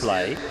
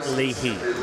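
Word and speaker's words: Leahy: that it may not have been the correct pronunciation. He's happy with Lelay but he did say it is Lehi.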